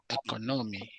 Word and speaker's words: economy: So when you have every expression with me, the syllable that is the second one from the left will have the stress.